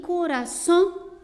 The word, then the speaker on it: corazón: Então veja, aqui a palavra coração, como é o caso da palavra borrou, são palavras que a última sílaba está destacada e elas são pronunciadas de uma maneira mais forte, né?